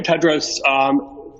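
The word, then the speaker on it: Tedros: for the question and the correct pronunciation of my name is dr. Ted Rose greetings to you again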